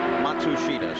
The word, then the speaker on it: Matsushita: guilty of it, but the truth is that the family name is Matsushita. But as Hiro comes to the United States, he would really prefer now, he says, for all of us to pronounce his name as Matsushita.